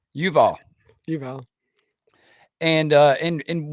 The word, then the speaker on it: Yuval: Harari and I'm saying jual how do you pronounce his name Yuval jual and uh and and what what we're